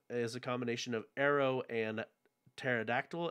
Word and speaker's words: aero: is a combination of arrow and pterodactyl and arrow is in um the greek for air a e r o arrow oh all right i